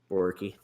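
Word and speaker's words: Borucki: Ryan Brockie or Brokey, or how do you pronounce that name? Let's see. Borky.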